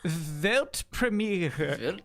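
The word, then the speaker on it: Weltpremiere: World premiere in German it's actually vet Premiere I think I could do that yeah do it velt Premiere yeah but me it's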